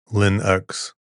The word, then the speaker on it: Linux: Linux should be pronounced Linux with a short I as in print and a u as